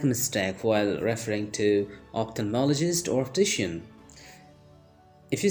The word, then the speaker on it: ophthalmologist: ophthalmologist to have my eyes checked remember the pronunciation ophthalmologist ophthalmologist so that was all for today see you